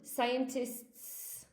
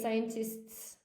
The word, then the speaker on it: scientists: So singular, it's going to be scientist, and plural, scientists. Okay, scientists. It's a hard one.